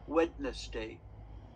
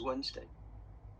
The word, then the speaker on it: Wednesday: So Wednesday is WED, but the D is silent. So sometimes little children, if they read, they say, "Oh, Wednesday." Okay, but actually, how you say it is Wednesday.